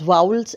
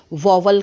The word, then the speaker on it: vowel: There are 2 types of alphabets that are known as वाउल्स and consonants. बहुत सारे लोग वाउल्स को वॉवल कहते हैं। That is not that correct. ठीक है, एक्चुअल उसका जो प्रोनाउंसिएशन है वो वाउल है।